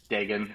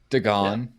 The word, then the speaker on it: Dagan: Megan with a Because most D, people pronounce Megan, Dagan. It's like the yeah. easiest way to get them to get there. okay, all right. Instead of botching it for 2 hours. Yeah. Dagan. Dagan.